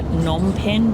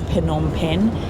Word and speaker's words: Phnom Penh: we always called it Phnom Penh because we were stupid, but it is Phnom Penh, and that is how the Khmer people pronounce it, so that makes it correct.